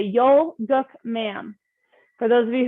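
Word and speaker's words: Yul-Gok: with a strong position you're going to say yo gok ma'am for those of you who want a little bit of help pronouncing it it's spelled y-u-l yol and guck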